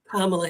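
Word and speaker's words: Kamala: like KLA Harris I'm kamla Harris yeah by the way here's how to pronounce my name KLA Harris yeah I'm you don't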